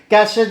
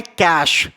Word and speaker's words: cache: cookies clear करते हैं तो लोग इसे बोलते हैं कैसे कैसे बोलते हैं कैशेज एंड कुकीज तो सबसे पहला वर्ड जो अभी यहां पर आपने सीखा है वो है सी ए सी एच ई जिसे बोलते हैं कैश कैश क्लियर कैश आप जो